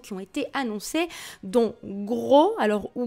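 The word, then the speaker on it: Grøh: deux nouveaux persos qui ont été annoncées dont gros alors ou greu visiblement ça se prononce grenat été créé spécialement pour soulcalibur 6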